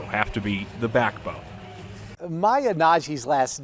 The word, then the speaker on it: Nnaji: Nnaji's last name might sound familiar to Wildcat fans. It's spelled Nnaji, and she might actually become the real Dr.